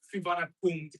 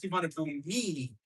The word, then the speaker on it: Suvarnabhumi: No, I'm going to be talking about the vowel at the end because it's apparently supposed to be pronounced firmly spelled as Suvarnabhumi. And it's wrong, but I can't blame the English transcribers for spelling it like this. Because this is supposed to be a vowel. Yeah. This I can thank you. This is supposed to be E. This is a vowel. You're supposed to pronounce it.